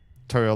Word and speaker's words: Toro: Toro like Taurus the bull, but it's spelled to o. If it was t au, that'd be one thing, right?